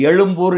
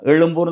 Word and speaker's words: எழும்பூர்: செங்கல் பட்டு ஏன் நிறுத்துறீங்க சரி எழும்பூர் என்கிற ஊர என்ன செய்யணும் நீங்க தமிழ்ல எழுதும்போது எழும்பூர் தான எழுதணும் ஆமா அத மட்டும் எக்குமோர்ு மாத்துறீங்க அவன் வாயில நுழையல ஆங்கிலேயருடைய வாயில நுழையல எழும்போர் என்பது அவன் எக்மோர்னு உச்சரிச்சான் தப்பாதான உச்சரிச்சான் அவன திருத்தனுமா இல்லையா சரி